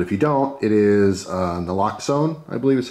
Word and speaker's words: naloxone: All right, so a lot of people know what Narcan is, but if you don't, it is naloxone, I believe is how it's pronounced.